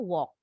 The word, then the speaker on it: walk: The L is silent. A walk, bacanya walk.